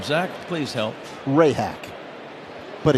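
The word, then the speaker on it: Rehak: As I said, Rehack. I feel like I may have mispronounced the name. Zack, please help. Ray hack. But it's spelled Rehack.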